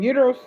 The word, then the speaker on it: gyro: And when you go in there says, "Can I get a Uros?" That's how they say it in the restaurant. Uros. But I'm like, "Yeah, can I get a gerro?"